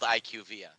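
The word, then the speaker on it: IQVIA: and found out that they're called IQ via that is nowhere near that is nowhere near is fun iqv doesn't even make sense you can't pronounce the first two letters and then the rest of the word gentically that's not how it works but that that's what it is it is IQ via they literally had the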